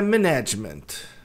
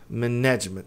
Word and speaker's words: management: A pronúncia de gestão não é management. Management e sim management. Management. A tônica tá aqui, tá?